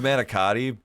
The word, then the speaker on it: manicotti: It's pronounced manicotti, but the inflection is different if you're native Italian or if you're native American. If you're from America, like our English, because we tend to, like, especially in the Northeast, we emphasize our vowels. So manicotti, but that's not how they pronounce it.